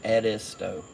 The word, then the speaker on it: Edisto: It's like Ed, a person's name, Ed, is, and toe. So Edisto is how you pronounce that's the actual pronouncing of it.